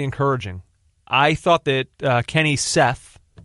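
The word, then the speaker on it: Kenny Saief: I thought that Kenny Seth, which we now know is his pronunciation. I was saying Saif.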